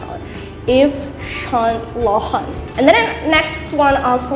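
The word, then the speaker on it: Yves Saint Laurent: or pronounce it so you're supposed to pronounce it in french so you call it eve son lohan if son lohan so it's french i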